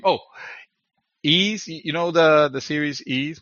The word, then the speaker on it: Ys: Oh, Ease. You know the series Ease, which is spelled Mhm.